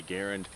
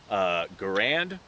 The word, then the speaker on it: Garand: A lot of people, the military designation for pronouncing this thing is the Garand, but a lot of people get on to me because I'm mispronouncing it because the guy's name was Garand. Both ways of pronouncing it are correct for this, but just to avoid